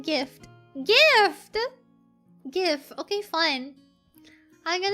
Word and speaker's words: GIF: The most accepted way to pronounce it is like gift.